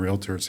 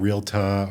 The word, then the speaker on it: Realtor: order to call ourselves realtors, which is a standalone designation. It's not realtor or realtor. It's 2 syllables, realtor.